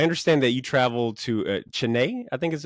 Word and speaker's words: Chennai: I understand that you traveled to Chennai, I think is how you say it, for six days for ComicCon India. Yeah. Yeah, we went to Shennai. Shennai.